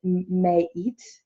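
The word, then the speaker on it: Ma'at: You pronounce her name as Mayit, but I like to say it as Mot.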